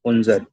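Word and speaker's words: unser: यू एन एस ई आर की pronunciation है उनजर, उनजर।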